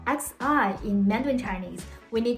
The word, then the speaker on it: 习: To pronounce the syllable xi in Mandarin Chinese, we need to push the tip of our tongue against the root of our bottom front teeth and arch up our